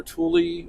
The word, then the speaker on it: Tule: don't know if it's pronounced tool or tule or how. Well, how's Anyway, it spelled? Tule. T-U-L-E. Like So- mule, but T.